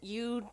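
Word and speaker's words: Yu: you as in you I'm you as in y u u that's how my name is spelled and it is pronounced like the word you but I do not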